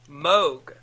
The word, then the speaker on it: Moog: It is pronounced Moog.